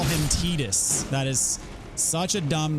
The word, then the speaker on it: Tidus: The correct pronunciation for that character is Tidus. And I will never be on board with that. In my mind, he is always and will ever be Titus.